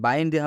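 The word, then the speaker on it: binder: एनडी आया है और जब भी आई के बाद से एनडी आता है तो इस आई का उच्चारण आई होता है जब बाइंडर लिख रहे हैं बा जब बाइन हम लिख रहे हैं ब प्लस आ प्लस ई तो आप देख सकते हैं यहां पर आई आ रहा है यहां पर आई आ रहा है ना तो इसलिए इस आई का उच्चारण आई से हुआ है बाइंडर बाधा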